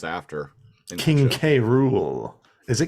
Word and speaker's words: K. Rool: K. Rool. Is it K. Rool or I guess we'll find out. I think they say cruel in the show, but I know it's spelled K. Rule.